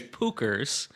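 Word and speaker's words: Puchers: I was just going to say it's Pookers and it's P U C H E R S.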